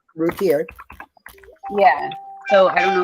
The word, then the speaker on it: Routier: Darlie Rotier? Routier.